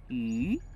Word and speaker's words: 鱼: In Chinese, fish and extra are both pronounced yu.